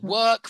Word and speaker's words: work: But yeah work rhymes with Turk.